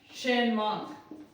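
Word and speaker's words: Tschermak: third scientist था आपका इरीच वन शमा T silent रहता है इसमें और यह कहां का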